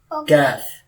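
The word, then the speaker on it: ق: Calf.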